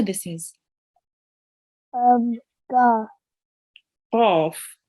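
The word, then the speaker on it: ق: Qaf. Make sure to read it with your mouth rounded a bit and with your throat.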